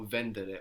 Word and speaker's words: vendere: street vendor vend vendere we had the accent there at the beginning no vendere or end also at the beginning vendere to know in Italian